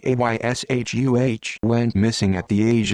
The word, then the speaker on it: Asha: born august 5th 1990 first name pronounced ayshuh went missing at the